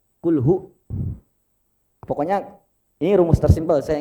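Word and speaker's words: هُوَ: Kalimat hu, itu kan domah. Jangan sekali-kali baca panjang. Kul hu, enggak. Kul hu.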